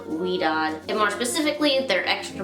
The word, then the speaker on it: Ouidad: product line twist by i believe it's pronounced we don't and more specifically their